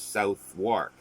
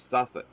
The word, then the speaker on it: Southwark: So you'd think it's South Wark, but it's Suffolk. I can't even do it correctly because the sound doesn't sound natural. It's not Suffolk, like for Suffolk, Suffolk or Norfolk.